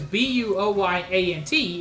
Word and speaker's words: buoyant: It shouldn't be too surprising, because B-U-O-Y-A-N-T is pronounced buoyant.